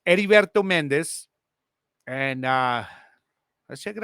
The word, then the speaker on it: Heriberto: But it's Heriberto Mendez.